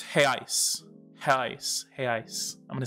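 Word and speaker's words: reais: much for saying that he says brazilians left their r in europe and replaced it with an h so again the singular is hale and the plural is hey ice hey ice i'm gonna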